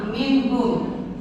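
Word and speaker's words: مِنْهُمْ: Nah, cara bacanya nunnya atau nun minhum ya, dibacanya jelas nunnya, tidak ada samar, tidak ada juga masuk atau melebur ya.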